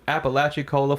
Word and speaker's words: Apalachicola: moved to Apalachicola, Florida. He pronounced it right this time.